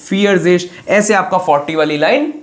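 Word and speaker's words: vierzig: पहले द्राय और 40 को फियरिश। 40 को फियरजेश।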